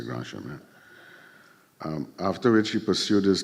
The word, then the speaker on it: Grand Chemin: I hope they don't pronounce it Grand Chemin, but being French, I have to say Grand Chemin.